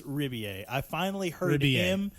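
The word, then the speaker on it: Rebillet: How do you pronounce his last Riboulet. name? Apparently Riboulet. it's Ribier. I finally heard Ribier. him Okay. say the name himself, Ribier. and I believe he said Ribier.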